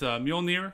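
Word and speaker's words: Mjölnir: is odin like thor has his hammer uh pronounced mjolnir the lightning the lightning hammer and then he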